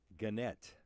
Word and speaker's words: Gannett: By the way, I need to give you credit for correctly pronouncing Gannett.